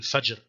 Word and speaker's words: fajr: foreign and again yeah you probably wouldn't say surgery because it's at the end there's a speech pause so more likely Fajr okay so this is